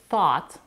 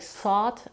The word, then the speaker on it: thought: it comes to Clarity there are certain words like thought the past tense of thing that if mispronounce may sound like sought or F and confuse the listener but there aren't many